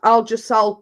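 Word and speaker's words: Algesal: problems with these inflamed muscles uh it's cut it's spelled a-l-g-e-s-a-l and it's called algisol cream uh but it does say I'd have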